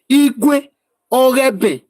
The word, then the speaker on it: Igueben: When we say Igueben, it's like Eloghosa, Ewato, Igwe Ogeben. That is how they pronounce it. They not corrupted it to Igueben. But in full, it is Igwe Ogeben.